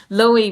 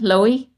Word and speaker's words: Louhi: Loey. Yeah, like uh L O W low key.